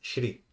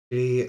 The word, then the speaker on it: Shri: the goddess Lakshmi, then in the North, the way we pronounce it is Shri, Shri or the Shrim, but in South it becomes Sri.